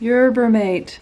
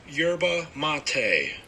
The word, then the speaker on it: yerba mate: hit list we need to know how to pronounce urban mate how to pronounce yerba mate urban mate now that we know how to